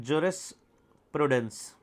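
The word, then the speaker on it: jurisprudence: पहले तो सब्जेक्ट का नाम देखो बच्चों, जो बच्चे गलत प्रोनाउंस करते हैं। सब्जेक्ट का नाम है ज्यूरिस्प्रूडेंस।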